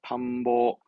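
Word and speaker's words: 探訪: 탐보, 탐보.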